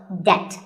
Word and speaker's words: debt: might find yourself in debt the b is silent in this word so debt if a debt is